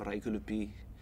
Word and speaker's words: Raiukiulipiy: is my baptismal name and my name reichelupi named after our chief reich and his younger